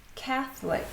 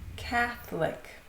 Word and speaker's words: Catholic: The next one has a mysterious O in the middle, Catholic, Catholic. This one is strange because the noun is Catholicism. So they pronounce the O very strongly but the adjective Catholic. O it's silent.